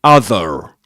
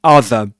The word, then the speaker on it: other: You won't expect native speakers to say other, alright? But they will usually pronounce their schwa sound, other. Alright, let's move on, guys.